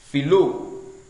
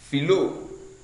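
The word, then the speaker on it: φιλῶ: For the first person singular, we are to note that the first person singular, phileo, should be written and pronounced as philo, philo.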